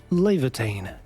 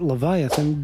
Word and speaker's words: Laevatain: Laevatain. Yes, that's how her name is properly pronounced. It's not Leviathan.